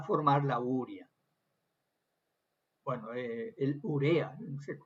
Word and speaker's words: urea: Bueno, el urea, se pronuncia urea, ¿no? Porque no lleva tilde urea, la urea, ¿no?